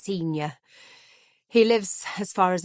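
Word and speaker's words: Synyer: Strange spelling, but it's pronounced senior.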